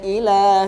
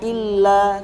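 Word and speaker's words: إلى: Idhab ila fir'auna innahu tagha. Terus di kalimat faqul hal laka ila. Ila di situ enggak tasdid. Jadi bacanya bukan faqul hal laka illa tadi.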